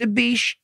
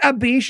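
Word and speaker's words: Abish: is like, "Please, mistress, it's pronounced a bish, high priestess. It's a bish."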